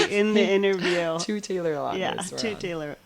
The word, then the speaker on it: Lautner: Two Taylor Lautners.